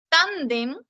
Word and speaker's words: tándem: Tándem, tándem es una palabra grave. Se acentúa en la penúltima sílaba y también vas a tildarla.